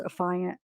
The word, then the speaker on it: affiant: if you Google it they say that it's pronounced affiant I don't know I'm gonna say a fine